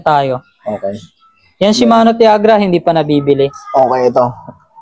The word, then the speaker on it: Tiagra: Ano bang tamang pronunciation niyan? Tiagra o chagra? Shimano. Tiagra. Tiagra talaga no?